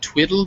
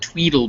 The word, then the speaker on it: tweedle: twiddle beetle battle so make sure that in that tweedle rhymes with beetles so not twiddle biddle beetles but tweedle beetles yes so what try